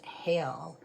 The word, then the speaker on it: Haegl: It's spelled h a e g l pronounced hail or and that is in the anglosaxon foothark.